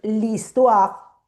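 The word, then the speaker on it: l'histoire: Claro, la h no suena. La h es como en español, no suena. Entonces es como si fuese una Entonces listua.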